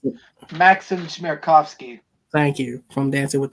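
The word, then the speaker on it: Maksim Chmerkovskiy: actor Miles Brown from Blackish, choreographer, help me pronounce it. Maxim Chmerkovsky.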